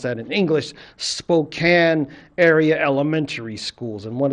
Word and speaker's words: Spokane: stories to little kids in a Spoke I Spokan I'm pronouncing it the wrong language pronounce that in English Spokane area elementary schools and one of the things